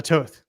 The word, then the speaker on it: Toth: Yeah, it rhymes with both, but nothing else. Goth, there you go. Sloth, moth, whatever, you know, so it's confusing. And now why Toth Games?